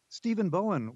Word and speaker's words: Stephen Bowen: for me I want to make sure I pronounce it properly itly stepen Bowen Steven Bowen welcome to welcome to gb's All Things Considered